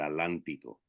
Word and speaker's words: Atlántico: cosas se cruzara el Atlántico dije Atlántico sin pronunciar la TL Que tanto se les complica a los penínsulas ulares sobre todo cuando